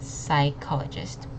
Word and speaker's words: psychologist: really long and also this P does not say say put it's just psychologist we emphasize on this